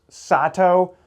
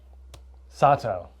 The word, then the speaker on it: Sato: Bob and I are here today to talk about the brand new 2026 Black Crows Sato and Sato Birdie. I feel pretty confident about that pronunciation that it's not Sat. Sato.